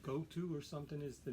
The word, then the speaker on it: Gotoh: they use which is spelled g-o-t-o-h and I think it's uh is pronounced go to so it's the end